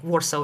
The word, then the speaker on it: Warsaw: I mean, I've been in Warsaw for Warsaw is how you say in English.